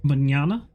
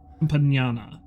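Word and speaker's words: Compaña: How do you pronounce that N again? Compana. Compana. Yes.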